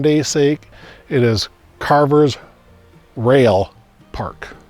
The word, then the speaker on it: Roehl: to her and um it's not culver road it's rail is how it's pronounced but the name was